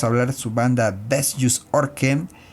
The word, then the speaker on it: Vestjysk Ørken: Vestjysk Ørken. Yeah, it's really complicated. I know how to pronounce.